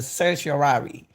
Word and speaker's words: certiorari: Steele, the right, the certiorari. Let me make sure I pronounce it right again.